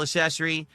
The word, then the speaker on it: accessory: Tonight, we're third week in a row where we're now using this wheel accessory. Accessory, because if I Oh. don't pronounce the hard Ac?